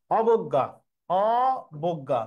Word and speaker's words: অবজ্ঞা: অবজ্ঞা শব্দের সহজ উচ্চারণ, অবজ্ঞা, অবজ্ঞা, তাহলে হবে অ হইল, বয়কার গ হইল, আবার গয়াকার হইল, চন্দ্রবিন্দু হবে। এখানে যেহেতু বর্গীয় জের সাথে যুক্ত বর্ণ আছে ইও, ইও নাসিক্য ধ্বনি যে উঠে গেছে এই জন্য চন্দ্রবিন্দু হবে।